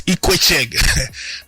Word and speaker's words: Ikwechegh: Paul Okoye the trend, and then Alex IKWECHEGH. That's how they pronounce that guy name.